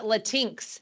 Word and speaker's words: Latinx: call for a lot of parents is it Latin X or is it latinx how do you say it's pronounced latinx everyone's got this right no no